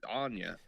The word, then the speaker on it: Anya: Like, I've been saying Anna, but it looks like it's Anya. Yeah, Anya.